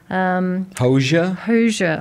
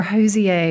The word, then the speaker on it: Hozier: Hozier or Hozier. He seems to have a few different ways of pronouncing his name depending on the country of the person you're talking to.